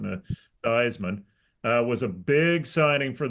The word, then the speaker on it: Theismann: Joe Theismann, who changed the pronunciation of his last name to rhyme with Heisman. It technically his real pronunciation of his name was Thiesman.